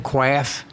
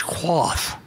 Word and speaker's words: quaff: It's a toast we all can quaff. I said, quaff? That's quaff, but it's quaff, so it rhymes.